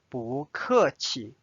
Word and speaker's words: 不客气: Notice again, this change to the second tone because this 客 is a fourth tone. 不客气。 You are welcome. 不客气。